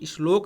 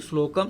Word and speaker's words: श्लोक: तो श्लोके षष्ठम गुरु गेयम, इसमें बताया गया है कि श्लोक इसको बोलते हैं, कुछ लोग श्लोक बोलते हैं, गलत उच्चारण है, इसका उच्चारण होता है श्लोक।